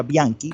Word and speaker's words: Bianchi: Mi nombre es Bianchi, se escribe Bianchi porque en italiano se pronuncia Bianchi, la C con la H, Bianchi.